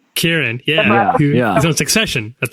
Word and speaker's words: Kieran: Kieran.